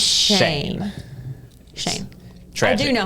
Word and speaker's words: Schoen: If you guys don't know how Colin's last name is spelled, it's S C H O E N. It's the worst. Imagine. But it's pronounced Shane.